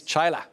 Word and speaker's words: Chaila: you at home remember her name it's denise chyla i do what i want with my